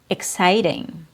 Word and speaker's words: exciting: In these examples, EX is followed by a consonant, and it's pronounced with a short I sound in a KS, X.